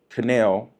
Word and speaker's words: Cannell: I was trying to make sure that I pronounced Sean's last name right, because I know it's close to Channel. That's the way I tried to remember it.